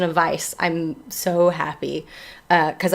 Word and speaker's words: Weisz: and learn together um wikipedia says it's pronounced vice so i think you're